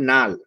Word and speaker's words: লাল: লাল। এটার উচ্চারণ হল নাল। একটা ল চেঞ্জ হয়ে ন হয়ে গেল।